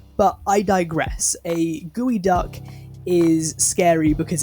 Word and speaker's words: geoduck: That is spelt Geoduck, alright? Or Geoduck or something. That is not gooey duck. But I digress. A gooey duck is scary because it's phallic, right?